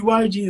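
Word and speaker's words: Waragi: Waraji is like, so what you need to learn about Ugandans is we pronounce our R's like L sometimes, yeah?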